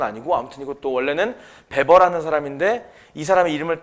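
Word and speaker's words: Weber: 왜냐면이 W를 비읍으로 읽는 쪽이 독일어 쪽이거든. 근데 왜 우리는 외보라고 읽느냐? 사실 존중해 줘야 되잖아. 그 사람 이름은 원래 배버로 한평생 살았으니까.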